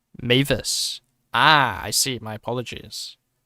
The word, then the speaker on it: Mavis: It's pronounced Mavis.